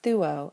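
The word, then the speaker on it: θύω: Our last example is thuo, I sacrifice. It has a long ultima, so we can only go back 1, 2, and put an acute over the second to last syllable, thuo.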